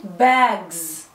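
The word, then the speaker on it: bugs: فاينل اس بنسمعها زي. امتى بقى؟ زي كلمة باجز. باجز سمعتوها اس ولا زد؟ سمعناها زد.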